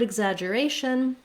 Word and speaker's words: exaggeration: walk you through the different spellings, the different pronunciations for the spelling EX. In the word exaggeration, the letters EX say the sounds I and